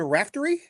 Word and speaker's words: Raftery: I wanted to make sure I got your name pronunciation right. But I'm going to go with Brian Rafty.